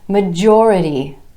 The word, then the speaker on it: majority: Major becomes majority, majority, with emphasis on the OR vowel sound right before our suffix, majority.